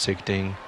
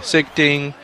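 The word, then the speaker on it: Sichting: in the game secting I think his name is not pronounced sick thing I'll find out one day sigting makes that show actually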